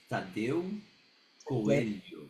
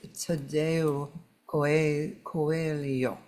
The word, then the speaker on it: Tadeu Coelho: It is Tadeu Coelho. Okay, so I knew I was pronouncing it incorrectly. Tadeu, right? Tadeu, Tadeu Coelho. Coelho. Perfect. Where are you from? Originally, I'm from Brazil. So that is a Brazilian Portuguese. pronunciation. Yeah. Yeah, so it's Tadeu Coelho.